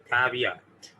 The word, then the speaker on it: caveat: टी के ऊपर vibration नहीं है, टी के ऊपर वाइब्रेशन नहीं है, तो मैं इसको यूं पढ़ूंगा caveat, caveat। तो टी की आवाज मिनिमम सुनाई देगी, ठीक है, तो ये पढ़ा जाएगा caveat, caveat, caveat, ठीक है। क्या पढ़ेंगे? caveat, alif ke at, not at.